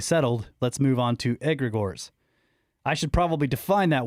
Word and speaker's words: egregore: Egregor.